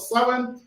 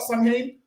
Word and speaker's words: Samhain: People it's pronounced start Samhain, but the proper pronunciation, how the council have said it, is Samhain.